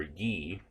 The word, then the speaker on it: ye: Remember, ye, as we pronounce it, was actually the Y there was actually a substitute for TH in older English.